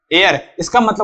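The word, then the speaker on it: heir: इसका उच्चारण "हेयर" होता है।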